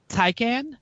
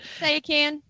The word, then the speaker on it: Taycan: So does it or does it not rhyme with the nut from South Carolina that they make the pies out of? Pecan.